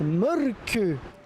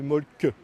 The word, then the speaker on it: Mölkky: Ça s'écrit molki, mais ça se prononce molke. Le molku. Plutôt un E qu'un E, mais pas un U. Donc ça fait molke. Le Y se dit avec le E de œuf.